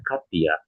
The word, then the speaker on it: Kadja: bertemu dengan orang Jerman dengan nama kadja ya karena ini dibacanya apa? Nanti dibacanya Katya gitu ya.